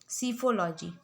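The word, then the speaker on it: psephology: सीफोलॉजी. P silent होता है.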